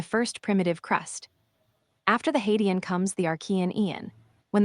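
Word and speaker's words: Hadean: The earliest chapter of our planet story is called the Hadian pronounced hydan roughly 4.54 billion years ago right approximately 4.0 0 billion years ago.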